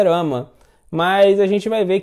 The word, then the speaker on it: Rama: e parece que é Ramo, né, assim, o pessoal usa Ramo. Na verdade, o nome de Krishna é Rama, né, Radharamana. Então, assim, a pronúncia correta é Rama.